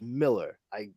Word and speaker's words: Millar: And by the way, it is Mark Millar, even though it's Millar. It's pronounced Miller. I can't speak to why Scottish people would spell it and say it in such a way, but he has made a point of it in many interviews.